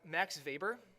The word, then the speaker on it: Max Weber: not least we have Max Weber even though his name has a W he's German so we pronounce that W as a V he was a German